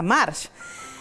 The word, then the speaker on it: Marc: era de origen Catalán Yo soy de apellido que vara Marc que en español se pronuncia March Entonces es muy lindo